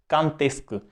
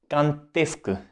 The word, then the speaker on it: quand est-ce que: हम कर सकते हैं, कांतेस्क, यहां पे साउंड आएगी, लिएजों होगा, और डी की प्रोनाउंसिएशन होगी टी की तरह, ई के ऊपर, कांतेस्क, कांतेस्क, कांतेस्क tu viens।